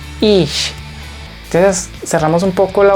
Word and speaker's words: ich: Cuando tenemos CH al final se lee sh. Esto se lee ich, ich.